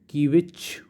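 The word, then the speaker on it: kvetch: इसमें भी T silent है, इसको पढ़ेंगे कीविच, ठीक है।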